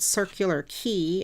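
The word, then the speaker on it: Circular Quay: stayed near a place called circular key it's spelled q-u-a-y um but it um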